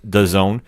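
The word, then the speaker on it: DAZN: Camilo and the zone I believe it's officially pronounced I call it desin but right apparently it's the zone yeah and you're seeing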